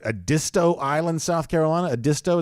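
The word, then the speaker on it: Edisto: disto Island South Carolina a disto is how you say that sounds like it's an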